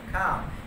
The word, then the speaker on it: calm: এটা হচ্ছে I state, একটা স্টেট মানে অবস্থা, একটা অবস্থা অফ ইজ, ইজ মানে আরাম, অ্যান্ড কাম, CALM কাম, এলটা উচ্চারণ করতে হবে না, অবশ্যই খেয়াল করবা এলটা উচ্চারণ হবে না, অ্যান্ড কাম শান্ত।